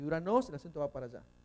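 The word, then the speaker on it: οὐρανός: Aquí es U, es el diptongo O, y la Y suena U. ¿Dónde no tiene? Acá, porque la pronunciación es Uranos.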